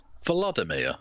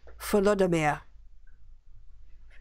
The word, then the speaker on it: Volodymyr: Pronounce that first name. No way. Not touching that with a 10-foot pole. Volodymyr. Come on. That's easy. Volodymyr.